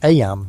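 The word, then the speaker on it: Eyam: Aam, you know, is pronounced just like em.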